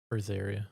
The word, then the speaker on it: Berseria: How do I pronounce that? Briseria.